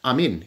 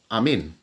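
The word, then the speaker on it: ἀμήν: ancient feminine here now the word amen is pronounced Amin in Greek Amin so I hope you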